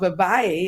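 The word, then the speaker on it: Vivaia: a big fan of a brand called Vay and it's spelled VI I a and they make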